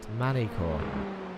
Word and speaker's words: Magny-Cours: Andre says the G in Magny-Cours is silent. Magny-Cours.